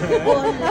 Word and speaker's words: Hola: Hola. Pinopronounce po siya with H.